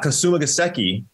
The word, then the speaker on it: Kasumigaseki: Kasumigaseki. Geoff, so very good on the pronunciation.